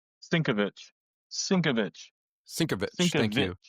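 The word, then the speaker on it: Sienkiewicz: Bill Seinwick. Sinkovich.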